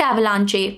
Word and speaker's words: avalanche: Avalanche, not avalanche, avalanche. Epitome, epitome, not epitome.